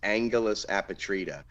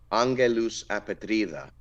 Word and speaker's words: Angelus Apatrida: number one pick, I'll say it like in the American English way, is Angelus apatrida. I think it's pronounced Angelus apatrida.